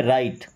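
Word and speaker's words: write: राइट, देखिए आर के पहले कभी डब्ल्यू आएगा तो डब्ल्यू साइलेंट होता है, यानी कि डब्ल्यू को नहीं पढ़ते हैं, इसे क्या पढ़ेंगे? राइट, राइट का मतलब होता है लिखना, लिखो।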